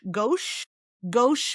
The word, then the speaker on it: gauche: So this great vowel here, it's like our O, gauche, meaning actually, since we